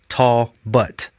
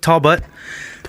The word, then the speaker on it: Talbot: Just a couple hours ago, we got an email from a listener named Eric Talbot, and he has, in parentheses, pronounced Tall Butt. So Eric Tall Butt, sent us a really nice email.